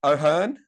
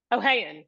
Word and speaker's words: O'Hayon: I'm going to say O'Hearn. O'Hayan.